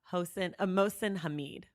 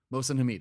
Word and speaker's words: Mohsin Hamid: I've been calling him Mohsin Hamid. Mohsin Hamid.